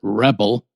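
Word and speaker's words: Wrebil: But you've got uh Rino, Rebel, which is spelled W R E B I L, but I pronounce it Rebel.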